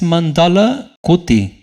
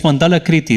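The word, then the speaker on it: मण्डलाकृति: The shape of a circle is coming here, circular shape, and it reads mandala kuti. 6 is the line or verse number 6. Okay, actually the pronunciation of this is kriti, no kuti.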